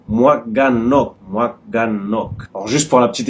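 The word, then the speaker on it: หมวกกันน็อก: En thaïlandais, ça se dit en 3 syllabes. Moaganok.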